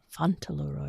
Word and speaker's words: Fauntleroy: Fauntleroy.